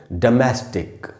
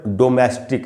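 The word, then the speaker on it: domestic: इसका जो correct pronunciation है वो है डोमेस्टिक। देखिए इसको हम लोग अक्सर डोमेस्टिक ऐसे बोलते हैं। डो का साउंड नहीं है। ओ का साउंड नहीं है। अ का साउंड है।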